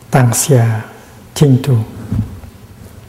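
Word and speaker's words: 當下淨土: And in modern Chinese, it's written pronounced Tang Xia Ching Tu, the Pure Land in the here, in the present moment.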